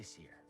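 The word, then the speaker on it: Cere: and you didn't join them cal it's okay seer we'll find cordova's holocron hey get your lasers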